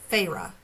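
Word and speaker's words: Feyre: not sure is it I would say Freya is that right according to Tik Tok it's uh farra farra yeah so this is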